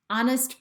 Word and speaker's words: honest: our honor and honor honest person and honest person here we never hear the sound of the h but in other words